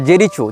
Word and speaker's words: Jericho: लेकिन इजराइल हो या फ़लस्तीन हो, इसने जेरिको या जेरिचो, जो भी इसका उच्चारण भाषा में किया जाता है, JERICHO, जेरिचो या जेरिको, जहाँ तक जेरिको होना चाहिए उच्चारण, ये फ़लस्तीन का प्रांत